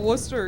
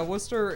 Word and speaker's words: Worcester: Well, Worcester. Yeah, Worcester. It's spelled Worcester spelled like Warchester.